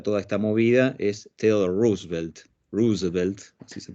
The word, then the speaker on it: Roosevelt: La cara de todo eso, si ustedes quieren, el presidente que representa toda esta movida es Theodore Roosevelt, así se pronuncia, que fue el primer Roosevelt, que no